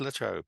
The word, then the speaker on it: La Trobe: he was running through La Trobe University. Forgive my pronunciation. No, that was right. It was called La Trobe.